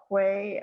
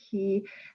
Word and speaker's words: quay: it's a boating term it can be pronounced key or quay i'll say it key and it's it's kind